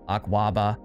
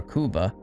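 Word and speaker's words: Akuaba: Dating back to the 19th century, Akawaba, sometimes pronounced Akwaba or Akuba, are wooden ritual fertility dolls from the southern region of Ghana and West Africa and nearby areas.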